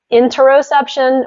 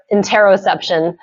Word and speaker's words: interoception: You can say interoception or interoception. I've heard different scientists pronounce it differently.